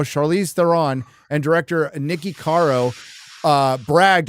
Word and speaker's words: Theron: It's pronounced Theron.